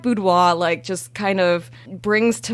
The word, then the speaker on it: boudoir: I call it boudoir. Don't worry about that R.